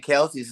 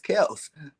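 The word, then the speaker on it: Kelce: man yeah absolutely absolutely we've all been saying kelsey's name wrong remember travis came on and said my name is kels but i just go i do too i still call him kelsey all right who on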